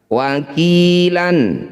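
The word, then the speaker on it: وَكِيلًا: Wakilan ketika dihentikan wakila. Wakila, jadi lanya ini panjangnya sama dengan ki, ya. Namanya mad iwad, cara bacanya sama dengan mad tabi'i, panjangkan 2 harokat atau 1 ayunan. Wakila.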